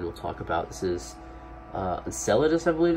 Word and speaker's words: Enceladus: the third moon we'll talk about this is Enceladus I believe it's pronounced so Enceladus could not be more opposite